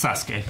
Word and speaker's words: Sasuke: So the U is silent. That's a pissed off Pikachu. The not happy. Yeah. What? The second U.